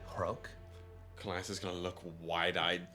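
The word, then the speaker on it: Rhok: My name is Hrok. That's spelled R-H-O-K. Hrok.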